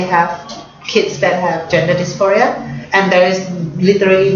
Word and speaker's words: dysphoria: 性别离散 diaspora, like DIASPORA, diaspora. It's pronounced dysphoria.